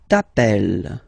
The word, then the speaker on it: t'appelles: All right, second form, tu t'appelles. Okay, remember, final s not pronounced.